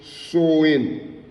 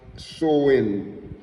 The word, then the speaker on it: Samhain: an ancient Celtic festival of Samhain, and it pronounced Samhain. It pronounced Samhain.